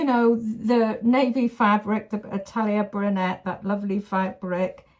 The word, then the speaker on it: Atelier Brunette: If I were you, I would put, you know, the navy fabric, the Atelier Brunette, that lovely fabric. It's Atelier Brunette, I've been told. So I must try and get the right pronunciation.